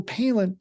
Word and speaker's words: Palin: Michael Palin rhymes with Michael Maslin.